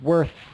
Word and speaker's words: worth: going a little off on the th at the end worth you just want to have it a breath sound don't put a vowel into it you don't want to say like worth the worth uh it's just worth worth try it again